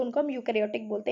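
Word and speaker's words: eukaryotic: होती है उनको हम यूकैरियोटिक सेल बोलते हैं तो इसमें इन्होंने जो है ना यू तो यहां इसमें ए जो है ना साइलेंट होता है तो उनको हम यूकार्योटिक सेल बोलते हैं और आर्गनिज्म डेट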